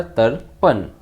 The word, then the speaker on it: तर्पण: तो जब हम तर्पण बोलते हैं तो जो र की रेफ का उच्चारण है वो त और प के बीच में हो रहा है, मतलब ऊपर वाली र की रेफ का उच्चारण अक्षर के पहले होता है। प में जो र की रेफ लगी है उसका उच्चारण हो रहा है पहले, इसलिए लिखेंगे पहले हम आर।